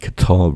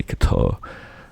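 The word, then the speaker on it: Kattar: decision over Calvin Kar people say Kar I say Qatar look it's spelled like what do you want from me salal gets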